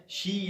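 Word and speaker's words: xi: अब अगर ओमिक्रॉन को देखा जाए तो ओमिक्रॉन भी एक ग्रीक अल्फाबेट है जो 15 नंबर पर आता है। इससे पहले 14 नंबर पर शी या कुछ लोग इसे जी प्रोनाउंस करते हैं वो अल्फाबेट आता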